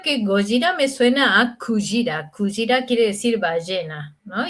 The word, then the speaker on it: kujira: Ah, Kujira.